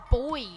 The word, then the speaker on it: Boid: today we're playing some boy rhymes with void gab have you have